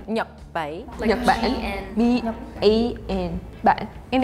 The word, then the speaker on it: Nhật Bản: In Vietnamese, we say Nhật Bản. Nhật Bản.